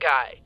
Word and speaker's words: Guy: That's your kidnap guy? My informant guy. Oh my God, where are all these locations? pronounced Guy. Oh, right, Guy. Also, Guy. he's French.